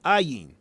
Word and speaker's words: Ayin: Both Aleph and Ayin are silent letters, which is I'm talking about with Adam, the hidden power, the silent power in Adam, which we have to discover. They have no sound aside from the vowel associated with them.